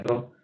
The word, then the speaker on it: rho: Me parece que es rho. No sé si se escribe así, pero se pronuncia rho.